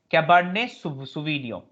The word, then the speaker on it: Cabernet Sauvignon: It's called Cabernet Sauvignon. Now T is never pronounced in France.